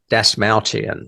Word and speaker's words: Dastmalchian: Dasmalchian, I think is how you say it.